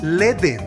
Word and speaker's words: Ledn: Es Ledn. Ledn. Ledn, es Ledn, James.